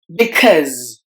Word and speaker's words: because: T sound the slight because because the letters u in e at the end are silent and we have to replace the yes and with the z sound because because we can